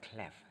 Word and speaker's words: clef: a look at that this is a treble cleff treble it's clef C l e f okay